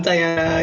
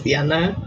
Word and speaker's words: Dianna: so hi everybody i'm diana you can also call me uh the spanish pronunciation which is diana i like don't mind either i get asked that